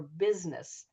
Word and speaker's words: business: And then there's like some words that are spelled with a U, like busy or business.